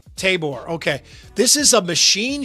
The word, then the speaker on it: Tabor: And sometimes it's in Iowa, as this listing is in, how do you pronounce this, Andrew? Tabor, Iowa? Tabor? Yeah, Tabor. Tabor, okay.